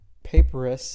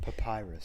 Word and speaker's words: papyrus: But when she could hide him no longer, she got a paparus. I've actually never known how to pronounce that word, but I think that's right. Papyrus.